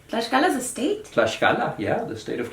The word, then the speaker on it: Tlaxcala: written in there, and that shows that way back in the time of the Spanish conquest, it was pronounced with an esh. Tlaxcala is a state? Tlaxcala, yeah, the state of Tlaxcala.